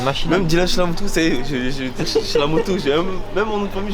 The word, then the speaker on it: Chellamootoo: Même Dylan Chilamoutou, c'est Chilamoutou. Même mon nom de famille, je vais pas le Il prononcer.